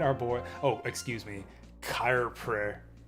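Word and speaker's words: Coirpre: So we got Jubal, Romeo, Lucia, and our boy, oh, excuse me, Kyrpre. How do you even pronounce that? Kyrpre. Kyrpre. Is that French? I don't even know how you pronounce that. It's Corporal.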